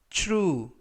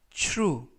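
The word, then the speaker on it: true: 표현은 주 주 르 쭈 루 라고 발음 하시면 되겠구요 이때 tr 바람이 추 추 라고 발음이 됩니다 품사는 형용사 뜻은 사실인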